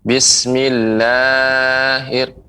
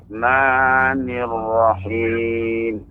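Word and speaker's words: بسم الله الرحمن الرحيم: Ya, untuk pengucapan huruf matnya itu cukup ditekan saja. Bismillahirrahmanirrahim. Jadi kalau dia dibaca Bismillahir, nah itu lebih ya, berlebih dari 2 harokat. Maka caranya cukup ditekan Bismillahirrahmanirrahim.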